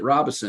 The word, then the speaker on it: Robison: him, I said, Doug, what's the correct pronunciation of your name? Is it Robison or is it Robison? And he said, it really doesn't matter. Robison is fine.